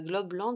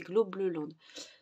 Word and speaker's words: Globleland: ça s'écrit globe lente c'est pas globe land c'est globe le Land donc avec le partenariat